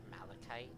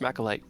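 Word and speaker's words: Machalite: pronounced Malachite. No, Uh, it's pronounced macalite, Oh, it's because pronounced that's actually how it's in Monster Hunter.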